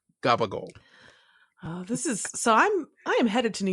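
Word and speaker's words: gabagool: It's CAPPACIOLI. Somehow that becomes gabagol.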